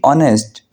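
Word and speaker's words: honest: ध्यान दार हो अच्छा यहां पे एच साइलेंट होता है और हमने पढ़ना होता है बी ऑनेस्ट हमने ओ की आवाज देनी होती है बी ऑनेस्ट ध्यान दार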